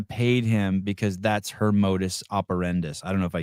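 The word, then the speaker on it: modus operandi: Modus operendi.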